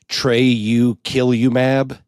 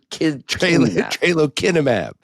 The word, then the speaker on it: tralokinumab: I gotta say for our listeners, Patton just pronounced it tralokilimab. Tralo. It is not tralokilimab. Kilimab. Tralokinumab. Tralokinumab. Not Kilimab.